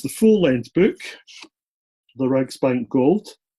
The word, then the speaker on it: Reichsbank: how do you pronounce that title? The Reichsbank Gold.